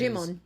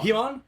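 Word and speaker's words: Djimon: Okay, the D is silent, so that means he is... Jimon. Oh, Jimon. Himon?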